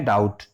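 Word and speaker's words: doubt: और डाउट में देखिए, डाउट में बोलते क्या है, डाउट। डाउट में बोल कितना रहे हैं, इतना बोल रहे हैं डाउट। और इसमें जो बी लगा हुआ है इसका उच्चारण नहीं किया जाता, तो इसका बी क्या है, साइलेंट है।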